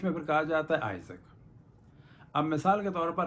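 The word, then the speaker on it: Isaac: اور انگلش میں پھر کہا جاتا ہے آئزک.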